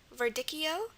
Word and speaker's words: verdicchio: Okay, the next word is verdicchio. V is normal. The E is representing the schwa here.